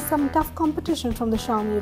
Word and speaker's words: Xiaomi: But, it faces some tough competition from the Xiaomi (pronounced Shiao-mee) Redmi 1s, Motorola Moto E and Android One smartphones, to name a few.